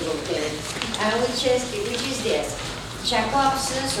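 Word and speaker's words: Jakobson: Jacobson's or Jacobson's, not Jacobson's as the Americans say, because he was a Russian linguist.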